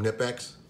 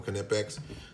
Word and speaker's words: Knipex: flyers for ideal knipex some people call them nip x i call them connepex so don't don't don't leave in the comments trying to tell tell me i'm pronouncing it wrong um i've heard it from that i'm pronouncing it right knipex okay so anyway